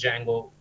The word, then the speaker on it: Django: to the Django library that DEJ Django we used to pronounce as Django library right so that is